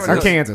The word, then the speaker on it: Arkansas: Now, I want to talk about Arkansas rest stop bathrooms. They're Wait, what? awful. I didn't stop in Arkansas. It's pronounced Arkansas. Arkansas, sorry.